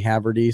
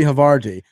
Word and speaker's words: Haverty: a local improviser, Haverty. So that was a great conversation. That sounds like a cheese. Haverty? Yeah. Havarti? Havarti. I wish you would stop pronouncing my name like that.